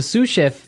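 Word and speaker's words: sous chef: So the s is silent because it's like a French word. Yeah. Something like that. Okay. So the sue chef is the second in line to the head chef.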